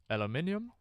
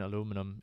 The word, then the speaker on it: aluminium: correct way to, or the scientifically correct way is, if I recall correctly, aluminium, and that's how it's pronounced in German as well. Or how it's written in German as well. It's not necessarily pronounced that way. But the easier version aluminum is should I call it a plebeian version?